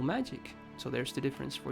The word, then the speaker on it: Magi: more happiness than studying magic. Human technology is great. And what's that? Magi? That's what I said at the beginning, but Morse told me it's a soft G and not the J one.